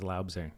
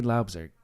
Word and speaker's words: Loubser: I had to ask him before we recorded how to pronounce Loubser because I thought it was Loubser, but Loubser is the proper way.